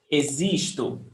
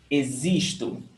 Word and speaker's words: existo: Eu existo. Pay attention to the pronunciation. Existo. Okay? Existo. Yes. The O is pronounced with U. Existo. And the X is pronounced as Z.